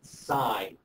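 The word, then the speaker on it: sine: First one is pronounced sign s i n e.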